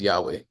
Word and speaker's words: Yahweh: of our Bible study we pronounce the name of God as yahwah and many people around the world pronounce the name as Yahweh and again we mentioned